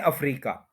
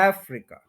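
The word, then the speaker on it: Africa: एज एज एज एज उसके बाद हम कहते हैं अफ्रीका इसमें थोड़ा सा आप देखले कि थ्री सिलेबल है एफ री और खा तो फर्स्ट के ऊपर स्ट्रेस है अफ्रीका अफ्रीका अफ्रीका नहीं अफ्रीका अफ्रीका थ्री सिलेबल्स है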